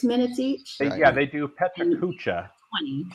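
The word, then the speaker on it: PechaKucha: They do Petra Kucha, 20. Right? Yeah. Finally, somebody said it right, because I can never say it right. I had never said that right.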